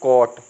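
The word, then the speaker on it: caught: लिखा है ना तो हम इसको पढ़ते हैं कट क्या बोलते हैं कट जो इसका सही उच्चारण है वो क्या है कट ठीक है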